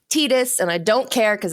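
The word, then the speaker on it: Tidus: to start with you what did you pick Titus and yauna from Final Fantasy 10 are my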